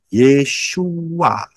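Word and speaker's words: ישוע: akan pernah bisa saudara Yod Shin wau Ayin bacanya yesua jadi betul nama Yesus bukan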